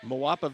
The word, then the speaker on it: Moapa: Moapa Moapa Valley.